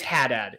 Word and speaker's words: Haddad: too hard to say it's haddad it's just the word hat and then dad we're just gonna stick with that and ironically no one says haddad no one even tries